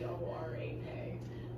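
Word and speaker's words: Dvořák: It's Dvorak.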